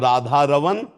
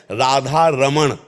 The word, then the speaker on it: रमण: रवन सकल सुख दमा और शुद्ध शब्द है अगरम उच्चारण करते हैं राधा रमण राधा रमण और राधा रमण राधा रमण णा को हटा के ना ब्रज भाषा में ना का ही प्रयोग तो हमें चाहिए कि